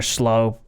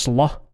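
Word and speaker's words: Slö: But it's actually pronounced slaw.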